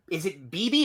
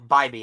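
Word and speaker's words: Bibee: Tanner, is it BB or Bybee? I think it's Bybee. Look at the rundown. I have the pronunciation there. Oh, Bybee.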